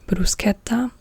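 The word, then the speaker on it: bruschetta: because they will just whenever they see an s c h they will be like sh sh sh sh like this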